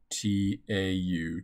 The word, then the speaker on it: tau: constant tau and by the way this is pronounced t-a-u tau the time constant is calculated as the